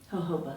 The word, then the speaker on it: jojoba: Jojoba.